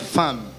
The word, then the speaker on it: femme: Déjà femme ça s'écrit par E, de ça se lit par femme.